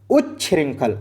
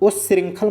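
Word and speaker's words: उच्छृंखल: उ्रंखल और ऐसे ही बोलना उंखल मत बोलना। उ्रंखल क्या बोलेंगे?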